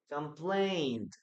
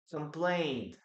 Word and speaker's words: complained: Okay, now remember that we don't pronounce the letter E here. Okay, so we have complain, complained, letter D, complained, simple past, complained here.